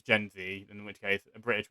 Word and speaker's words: Gen Z: it's probably just gen it's probably gen z even though we pronounce it zed so yeah like i